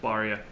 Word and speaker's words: Barria: going for the Astro so I was trying to get the baseball reference as fast as I could for the official pronunciation this guy could have been just a regular white person and I wouldn't have known but they don't have the they don't have the first name pronunciation they're just Barria anyway Garrett cool most